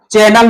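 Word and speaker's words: Chanel: जो कई जगह इसका चैनल भी लिखा हुआ आ सकता है लेकिन इसका उच्चारण चैनल होता है और यह ब्रांड एंबेसडर बनाया गया है।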